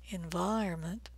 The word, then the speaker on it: environment: 14 is I as in white, environment, environment.